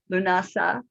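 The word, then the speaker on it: Lughnasadh: i was pronouncing and there are several different pronunciations so lunasa is the one i have chosen and it's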